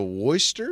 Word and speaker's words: Worcester: for its Worcester accent oh really got the Wester accent going got the Worster accent I like it um it's 18 degrees